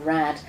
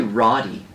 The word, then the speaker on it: Radde: I be pronouncing it it's actually rowdy rowdy yes but now it's it